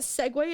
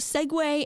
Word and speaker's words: segue: Both Segway and Segway share a pronunciation, and the spelling S-E-G-W-A-Y looks more logical to us than fucking Segu.